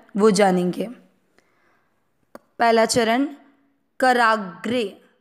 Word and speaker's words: कराग्रे: वह जानेंगे पहला चरण कराग्रे क अक्षर पूरा है अक्षर पूरा जब आधे अक्षर में अ मिक्स होता है तो बनता है तो करा ग्री का मतलब हुआ ग आधा और र पूरा अक्षर जो पूरा होता